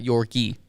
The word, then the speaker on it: Yorke: But everybody just calls him York, not Yorkie. Well, you know, York. some people do. Oh, Yorkie? Usually the girls. Well, how do you pronounce it? York. York. Yeah.